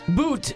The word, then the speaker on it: Butt: Boot. The T is silent. It's Butte.